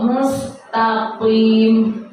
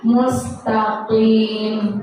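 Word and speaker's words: مستقيم: Siratal mustaqim, qaf, bukan kaf. Jadi kita bacanya mustaqim gitu. Kalau kita baca mustaqim biasa salah, artinya sudah beda. Mustaqim jalan yang lurus, itu pakai qaf, bukan pakai kaf.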